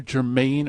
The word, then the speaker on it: Germain: His name is either Germain or German. It's spelled both ways.